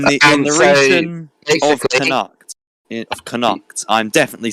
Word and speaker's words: Connacht: It's Connacht, I believe, and well, that's my pronunciation. What I go by. We both could be wrong, but so basically, Connacht,